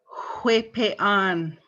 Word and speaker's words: huepean: The next word, huepean. Huepean. So again, light wind sound, huepean.